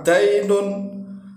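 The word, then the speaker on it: دَيْن: yadinu kemudian menjadi mazdar kalau dalnya itu di fathah dainun dainun artinya hutang tapi kalau dalnya di kasrah dinun artinya adalah agama jadi walaupun th Dal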